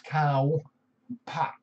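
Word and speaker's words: ข้าวผัด: Khao pat. Yeah, I am. It is khao pat. It's pat, P-A-D. And it's pronounced cow, but it's K-H-A-O. So it's cow pat.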